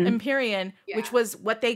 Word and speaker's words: Empyrean: It's Empyrean, yeah.